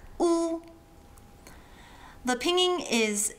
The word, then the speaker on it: ㄨ: Now oo is like when you see someone trip and fall on their face and you're like that's got to hurt. Ooh. The pinging is u when the oo is in the middle